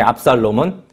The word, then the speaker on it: 압살롬: 보를 해서 나온 아들 6시 있습니다 6 그중에 압살롬은 세 번째 아들 셋째 아들이 밥 쌀 넘 첫째가 암놈 막론 발음을 잘해야 되요 둘째가 아비가일이 나온다니 에 이